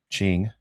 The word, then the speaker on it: Qing: I got him on a referral, and he wanted to buy 4 peach and 4 ching, which is spelled Qing.